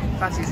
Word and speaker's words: Phattys: Phattys Restaurant, spelt with a PH, not an F.